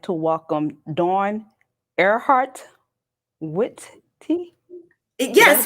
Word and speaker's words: Witte: I'd like to welcome Dawn Earhart Witte. Did I Yes, pronounce the last name you correctly?